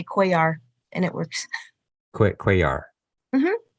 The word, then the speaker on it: Cuellar: Is that how you pronounce that? Cuellar.